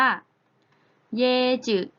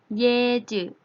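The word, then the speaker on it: 椰子: คือ มะพร้าว นั่น เอง มา พร้า ใน ภาษา จีน เรา จะ เอา เสียง ได้ ว่า เยจิ เยจิ Yeah you นัก เรียน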